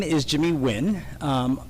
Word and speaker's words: Nguyen: is Jimmy Nguyen um because in the U.S growing up people could not really pronounce my last name the way it should be pronounced in Vietnamese which is which is very difficult if you don't have a Vietnamese accent so growing up actually the word win became part of my brand name and I have a